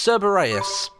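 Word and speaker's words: Cerberus: Martin, uh, it's Cberus.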